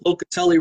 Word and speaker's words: Locatelli: Locatelli rhymes with Donatelli.